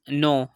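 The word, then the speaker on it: know: example है हमारे पास नो तो यहां पर हम देख सकते हैं की एन से पहले के ए गया तो यहां पर हमने केक को साइलेंट कर दिया और इसकी करेक्ट प्रनंसीएशन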